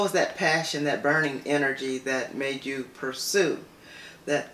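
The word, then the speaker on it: Innerg: So the name of my company is Energy Consulting, and it is spelled I-N-N-E-R-G.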